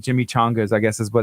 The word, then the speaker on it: Jimmy Changas: Jimmy Chongas are like the Butterfinger thing. How's it spelled? Did we do that again? CHA. It's Jimmy Changas.